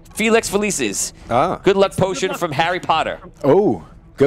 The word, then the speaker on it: Felicis: Felix Felicis. Felix Felicis.